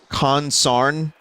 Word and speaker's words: consarn: about it I swear it's actually two words it's Khan sarn it derived from the exclamation mark exclamation consarnation a dialect pronunciation of consternation either from a dialectal